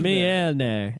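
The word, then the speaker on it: Mjölnir: is that we now know how to correctly pronounce Mjolnir. Mjolnir. And the way you spell it is MJ with 2 dots LNIR.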